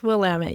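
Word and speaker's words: Willamette: In case people are wondering, it's not Willtt for listeners even though it looks like it. The someone from the region once told me this years ago and it's always stuck with me. It rhymes with damn it. So will Damit. So I always think of that when I look at it because I want to say Will, but it's Wamtt. It's Wamut.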